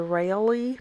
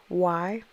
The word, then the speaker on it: Reilly: Reilly. It could be just pronounced Riley. Um, that's probably what it is, the Reilly method.